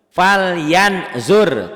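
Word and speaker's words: فلينظر: Fal yan zur. Tuh tetap ya. Nih saya tulis lagi ya. Ditulis lagi nih. Fal yan zur fal yan zur. Tuh tulisannya ada n. Dibacanya n-nya tambah g. Ditahan sedikit.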